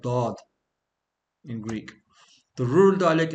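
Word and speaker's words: ضاد: It's the letter of the pronunciation of Da, because most people cannot get this out correctly, right? Where you're supposed to place your tongue for Da, Dad.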